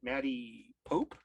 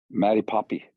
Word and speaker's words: Maddie Poppy: to mispronounce your name is it Maddie Pope Maddie poppy poppy okay see I I mispronounced it anyway I wasn't sure